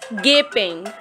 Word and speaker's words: gaping: It's not gapping. It's gaping. Rags.